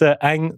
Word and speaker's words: Ang: It's Ang. Right. Vietnamese name. And all Vietnamese words are one syllable, you see.